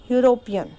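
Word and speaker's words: European: यूरोपियन ये start तो ई से हो रहा है लेकिन इसका प्रोनाउंसिएशन में कॉन्सोनेंट आ रहा है. यू आ रहा है, वाई ओ से स्टार्ट हो रहा है. देखो जैसे ई इज a vowel but it produces a sound of वाई O which is a consonant.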